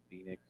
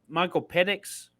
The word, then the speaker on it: Penix: Something Phoenix, Michael Mm-hmm. Phoenix Jr. He is freaking torching. Oh, Michael Penix. Yeah, Penix. Penix, yeah, Penix. not Phoenix.